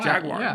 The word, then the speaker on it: Jaguar: all right okay uh how do you pronounce Jaguar Jaguar yeah you said wire with a like an i sound in in the midd there yeah but it's just Jaguar yeah um all right so this is about